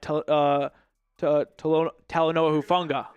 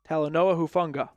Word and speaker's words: Talanoa Hufanga: Ian Rappaport just tweeted out the Broncos add Talanoa Hufanga. No, I know how to say it, but when it's just saying it quickly. As you say it more, you get better at it, of course. Talanoa Hufunga.